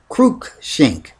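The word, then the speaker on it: Cruikshank: versus kren shank K uh CR kru shank Kook shink which is spelled c r u i k s h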